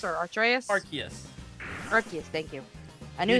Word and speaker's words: Arceus: Well, isn't there like I don't know how to pronounce his name, but isn't it like Arceus or Arceus? Arceus.